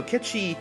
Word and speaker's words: Cait Sith: Sith or akechi rather I always see Cait Sith or whatever that's how it's spelt but no kid she you know has the